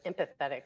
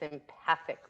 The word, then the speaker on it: empathic: it wrong i'm sorry i thought it was empathetic listening it's empathic listening bad on me sorry